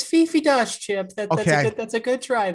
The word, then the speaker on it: Dosch: It's Fifi Dosch, Chip.